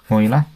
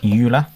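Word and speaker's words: Euler: It's pronounced Oiler, not Ula as um Kira Nightly says in the imitation game.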